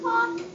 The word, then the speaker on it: talk: dir can I just talk okay we're going to do a few more words okay this one's a little bit confusing there's a silent word in it t a talk talk talk oh I know how